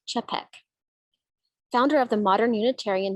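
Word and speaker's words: Čapek: originated in 1923 by dr norbert hepek actually is pronounced cepek founder of the modern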